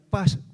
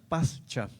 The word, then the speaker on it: Pascha: En el latín su palabra se pronuncia pasa. Pascha.